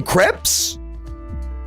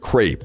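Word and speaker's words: crêpe: Do people call them crepes? We can all agree it's pronounced crepe, like grape, right? There's no way people say crepe.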